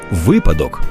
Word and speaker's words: випадок: Дякую дорогі Антитіла допомогли слово випадок без жодних винятків завжди і в однині і в множині наголошується на першому складі щоб точно запам'ятати як